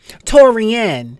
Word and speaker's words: Taurean: it is but the first name is Taurean torian yes but it's it's okay